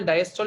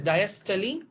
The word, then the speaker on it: diastole: I've seen people pronouncing it as systole, diastole. It is also fine. But to be more specific on pronunciation, it is diastole and systole.